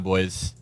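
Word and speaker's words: Boies: It's like John Boyce.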